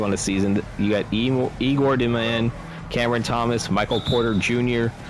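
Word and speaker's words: Igor Demin: Igor Deman, that is his pronunciation.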